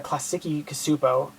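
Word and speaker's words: Klasky Csupo: i figured you know this is by a classic cosupo uh that's how you pronounce the name uh same people who do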